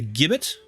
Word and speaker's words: gibbet: It begins with a hard sound, not a soft one. A gibbet?